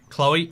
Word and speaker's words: Chloe: Cat's next story, how he got punched in the face by someone called Chloe. Or Chlo, as it should be pronounced.